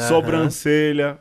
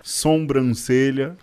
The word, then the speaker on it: sobrancelha: muito mais legal cabeleleiro é sobrancelha que eu acho mais legal que seja sombrancelha entendeu Nem entende eu